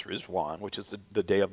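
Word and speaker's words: Riḍván: the Feast of rizwan looks like rid vanan but it's pronounce rwan which is the day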